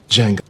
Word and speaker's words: Django: Django. Can you spell? D-J-A. The D is silent.